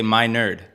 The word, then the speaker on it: Menard: he told me how to say it is that I'm your nerd. So say my nerd.